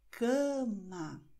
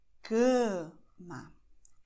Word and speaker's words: cama: Das, und das ist extrem wichtig, alle Vokale vor M oder N sind auf Portugiesisch nasal. Es gibt Ausnahmen, aber tendenziell ist das so. Deswegen werden wir hier Cama aussprechen. Cama. K, ja, mit der Nase. Und Ma, offen. Okay?